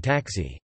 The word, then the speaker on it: także: Less frequently, voiceless consonant letters can represent voiced sounds, for example, the K in taxi, also, is pronounced like a G.